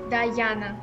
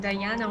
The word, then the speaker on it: Dayana: name diana or diana dayana diana right i don't know why many people think that my name is pronounced like diana or diana but my name is uh pronounced like guyana yes okay how are